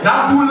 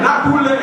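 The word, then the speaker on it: nap boule: Not boule. Let's hear it. Not boule. Not boule.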